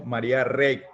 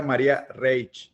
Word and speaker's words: María Reig: nosotros hemos estado diciendo maría rey así tal como se lee pero es un apellido valenciano catalán verdad y se pronuncia maria reig así exactamente si es